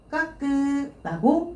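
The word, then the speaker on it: 覚: 까끄라고 읽어주셔야 돼요.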